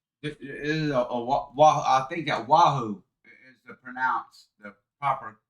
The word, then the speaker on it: Wahoo: So, it is I think that Wahoo is the proper pronunciation.